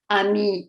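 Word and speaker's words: amie: Ami, ami, we add the feminine E, but this feminine E is not pronounced.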